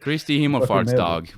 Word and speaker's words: Kristi himmelfartsdag: Kristi Himmelfartsdag, which is Ascension Day.